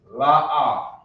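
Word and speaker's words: لا: And no, we say no by saying la'a. La'a is how you say no.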